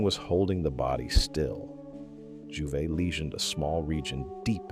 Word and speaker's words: Jouvet: In 1962 at the University of Lyon, a neurophysiologist named Michel Jouvet, pronounced Jouvet, was trying to answer a simple question.